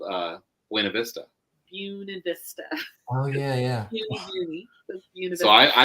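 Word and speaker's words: Buena Vista: was in a city called uh wav Vista buun Vista oh yeah yeah so I I pronounce it wrong because I'm not from here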